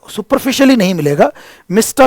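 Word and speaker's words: Mistah: मिस्टा कर्स देखो मिस्टर नहीं बोला मिस्टा बोला जानबूझ करके लैंग्वेज को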